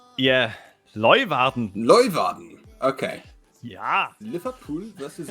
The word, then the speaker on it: Leeuwarden: I think it's Leeuwarden. Leeuwarden. It's a German stream, isn't it? So if we say it like someone German... Yeah, Leeuwarden.